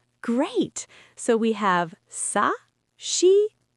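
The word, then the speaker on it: し: She not c. It's she like she.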